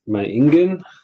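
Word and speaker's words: ma'iingan: Yeah, it is Maingan. Let's spell it out here.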